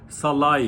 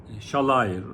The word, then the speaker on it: Sallai: gidiyor Almanya'da freyburg oyuncusu Ronald salai ile shalay diye okunuyor Roland shalay ile anlaşıyorlar